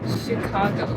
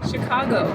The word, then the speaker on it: Chicago: You have the Korean pronunciation. You say C. You have this C. 시카고. Chicago. 시카고. Not Chicago. Chicago. 시카고? Not shit. Shit. 시카고. No, stop saying she.